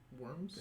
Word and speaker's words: wyrm: But Worms? that's Speaker? Mm-hmm. Like WORM? WYRM. The P is silent. Worm. Ah. That's what it was. Worm like wyvern.